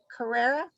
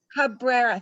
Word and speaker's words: Cabrera: name is paul and i'm going to say it wrong around to correct me carrera cabrera cabrera thank you i'm sorry i i